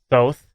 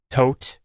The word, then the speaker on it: Thoth: His name is also sometimes pronounced Thoth or Tot, but if you want to get old school, his original Egyptian name is Tehuti, Also, sometimes spelled with a D and a J at the beginning, like Jehuti.